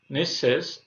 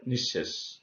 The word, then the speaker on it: নিঃশেষ: নিঃশেষ, অনুরূপভাবে এখানে আমাদের নিয়মে বলা হয়েছে যে বিসর্গ যে বর্ণের আগে থাকে সেই বর্ণকে দ্বিত্ব উচ্চারণ করে। তাহলে এখানে তালবস্য আছে, এই তালবস্যকে দুইবার উচ্চারণ করেছে নিঃশেষ।